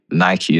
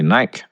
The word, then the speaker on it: Nike: Nike is actually the Greek goddess of victory. And so the name has been based on that. So anyone who does say Nike, wrong, do some star jumps.